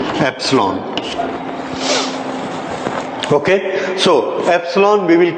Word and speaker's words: epsilon: हाउ इट is pronounced? Epsilon.